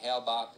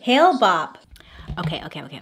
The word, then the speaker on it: Hale-Bopp: learned about the approach of a comet named Hale-Bopp. Is that how you say it? I feel like that's not right. The comet Hale-Bopp is an... Hale-Bopp!